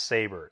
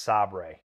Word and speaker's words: sabre: It's not pronounced saber. It's pronounced sabre. Like the hummus.